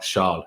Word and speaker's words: Charles: good charles is yeah so he is of charles you know let's be let's be proper with the french pronunciation um but father who's